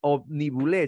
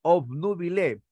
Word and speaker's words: obnubilé: cierto no se dice me omnibulé sino me obnubilé es decir tu mente